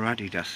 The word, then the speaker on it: Adidas: Yeah, you've got Adidas there, or Adidas if you say it properly.